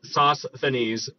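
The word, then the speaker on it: Sosthenes: pronounce it very well I have to like separate it into two words sauce like tomato sauce and then thanes uh sauce thanes because I can't say it together it's just not happening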